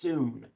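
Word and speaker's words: σύν: It's spelled S-Y-N, but it's pronounced soon.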